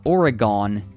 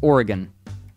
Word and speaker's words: Oregon: me know similarly everyone it's not Oregon it's Oregon just Oregon Jackson asks this